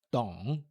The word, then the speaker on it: 懂: 我 terceiro tom, 不 quarto tom, 懂 terceiro tom. 我不懂，我不懂. E o D, 懂, é bem suave, é quase um T em português.